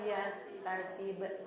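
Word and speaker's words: يحتسب: Barang ibu tadi bacanya tasib enggak panjang ibu la yahtasib.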